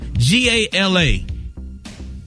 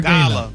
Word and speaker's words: gala: G-A-L-A. How do you say that? Gala or Gala? No, there's no or. It's gala. It's Gala. not, the emphasis on the gay, Gary.